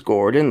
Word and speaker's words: Gordon: Saturday the 19th because my last name is Gordon like I said rhymes with Jordan then I was I